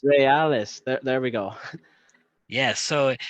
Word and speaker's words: Reales: Did I is that pronounced? Is that No, it's correct? not. It wasn't RSL. It's Los Caballeros Reales. Reales.